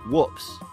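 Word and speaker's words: WPPSS: An acronym pronounced whoops.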